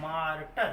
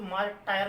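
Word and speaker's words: martyr: Next में मार्टर। देखिए pronunciation ध्यान देना, कोई मार्टायर नहीं रीड करेगा, इस पर पढ़ते हैं मार्ट तो मीन्स मार्टर मीन्स शहीद।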